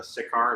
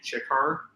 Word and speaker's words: Ciccar: is just my main shortened up and it's pronounced with a cha versus a sikkar it's actually chikkar um that kind of got brought about because